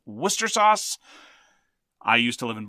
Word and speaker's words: Worcestershire: L-E-I-C-E-S-T-E-R, very much like Worcestershire sauce, which is pronounced Worcester sauce.